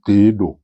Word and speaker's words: Tewahedo: Nous allons découvrir l'église éthiopienne Tehedo. Je ne suis pas sûr de la prononciation. Cela s'écrit Tewahedo, mais l'on prononce Tehedo, me dit-on.